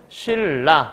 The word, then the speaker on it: 신라: 이렇게 얘기하면 되겠네요 다음 신라 니은이 리을 만났어 뭐가 더 세다고요 리을이 세다고요 그러니까 최종 발음은 신라 바로 쓰면 되겠고 니은이 리을 된 거니까 리을의 특징은 유음화라고 얘기했었죠 얘도 교체라고 볼 수